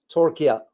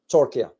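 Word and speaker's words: Türkiye: from now on for me I will be pronouncing Tokia to that's how it's pronounced in English but in Arabic you pronounce it Tokia so you have Israel Tokia and the Gulf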